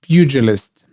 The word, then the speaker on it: Pugilist: That's Pugilist. That's how you pronounce it.